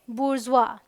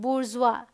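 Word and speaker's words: bourgeois: यहाँ आइए, इसे देखिए क्या पढ़ते हैं, बुर्जुआ। क्या पढ़ते हैं, बुर्जुआ, ये भी साइलेंट है।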